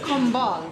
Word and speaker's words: Combal: Pronounce the name? That serves beer. It's Combal.